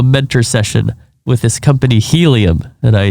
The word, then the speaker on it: Healium: what we're doing so helium it's spelled h-e-a-l-i-u-m like healing and uh my background